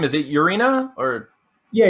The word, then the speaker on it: Urena: Is it Urena or? Yeah, Urena. Urena. Okay, Yeah. okay. Cool. A So lot of everyone. people mispronounce that one.